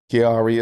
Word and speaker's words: Kiari: So, today with with with Offset, we're going to discuss this upcoming album, Kiari.